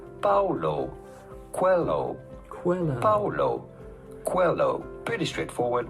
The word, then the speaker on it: Paulo Coelho: How do you go about pronouncing his name? Paulo Coelho.